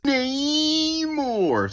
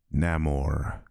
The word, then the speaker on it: Namor: with the name namore by writing the word Roman backwards that should be your first clue as to the pronunciation of his name considering you don't pronounce